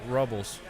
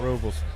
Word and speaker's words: ruble: you mean 425 uh rubbles i'm not sure what a rubble is is that is it rubles oh i said it wrong rubles excuse my red hand's